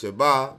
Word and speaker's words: Shabbat: All right, you see it says Shabbat. That's why we pronounce it. It says Sabbath, but it's Shabbat.